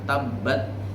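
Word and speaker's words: تَبَّتْ: terakhirnya tua tetap begitu ada tasydid dan berharokat jadi membacanya juga ada penekanan tabbat Yada Abi lahabiw watab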